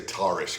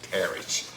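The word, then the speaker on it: Tarrasch: Book on the, well, I used to say Tarish because that's what I thought that would pronounce like, but it's actually Tarish, the Tarish defense.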